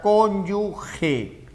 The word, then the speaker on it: cónyuge: recuerda en varias ocasiones vas a escuchar erróneamente pronunciada cónyuge. Y tú sabes que no es cónyuge porque gue es esta combinación de letras, ¿no es cierto? Gue. Y por eso decimos guerra. Pero GE suena G.